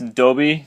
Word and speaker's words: Dobby: guys even say anything it's pronounced adobe because if you paid attention to the harry potter movies that's how they say it there and don't even start